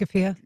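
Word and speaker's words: keffiyeh: a Palestinian flag and uh how do you pronounce it? Kafia. Kafia on the podium.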